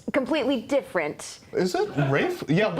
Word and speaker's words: Ralph: And his name is spelled with an R-O-Y-C-E, but it's pronounced Royce. Royce. Royce, It's rather like than Rafe Royce. Fiennes. Yes. But completely different. Is it Rafe?